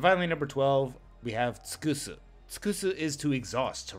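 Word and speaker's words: 尽くす: Alternate ways to pronounce this kanji are jin, to exhaust, use up, run out of, or deplete. Jin or tsukusu is to deplete.To do to exhaustion.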